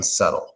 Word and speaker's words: subtle: difficult to describe something subtle yeah of course but I'm okay yes the B is not pronounced yeah it's a word